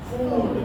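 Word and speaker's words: food: बड़ा ऊ है F double O डी इज़ फूड गुड फूड नॉट फूड फूड फूड F double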